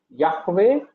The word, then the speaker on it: Yahweh: In the German Bible even if it is J they will pronounce it as Y only. Okay. So that is the mistake. All right. So it is Yahweh and we use the